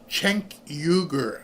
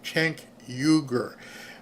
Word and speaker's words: Cenk Uygur: Pronounced Cenk Uygur. Okay, thank you, Mom. Cenk Uygur.